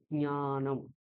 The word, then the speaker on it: জ্ঞানম: জ্ঞা, ঙ, হ্যাঁ, চ ছ জ ঝ ঞ, ওই ঞকারটা ওখানে আনতে হবে। জ্ঞানম, ঠিক আছে?